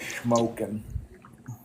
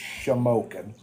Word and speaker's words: Shamokin: not saying it right it's not smoking well that's how it's spelled it's probably you got to look at it again it's it's Shamokin shok which is the thing